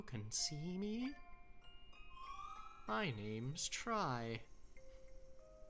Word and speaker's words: Tri: see me my name's try could it perhaps be pronounced no it's try like like Triforce you know that's it's